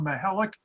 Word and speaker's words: Mihelic: That kind of volunteer spirit and helping the third world, it's easy to remember when you hear the name Rob Mihelic, it rhymes with angelic.